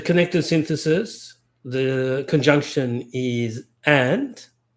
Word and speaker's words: et: synthesis the conjunction is and and that's the principal conjunction of Duluth and gwataris ontology and which is ET pronounced a is pronounced in French the same as is which is EST pronounced a the same pronunciation but